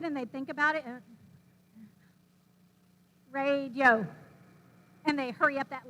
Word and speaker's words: radio: about spanish syllables so this word radio in english it has three syllables and we say radio well how many syllables do you think that has in spanish and they would say well i thought it had three but since we're talking about it it must not and i was saying you're right it does not it has two so this has two